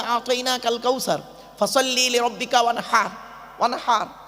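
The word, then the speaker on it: وَانْحَرْ: ইন্না আতাইনা কাল কাউসার ফাসাল্লি লিরাব্বিকা ওয়ানহার। ওয়ানহার, এই গলার ভেতর থেকে হেটা উচ্চারণ করবেন, ওয়ানহার।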